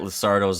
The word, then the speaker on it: Luxardo: Yeah, no, I really think the guy at Luxardo's like he's been listening for months? There's waiting. no S. Luxardo. There's no S.